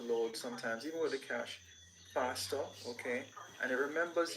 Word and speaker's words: cache: Cache is another concept that we use a lot in IT, and it's not cash as in money. Sorry to disappoint you. It pronounces, the pronunciation is actually cache.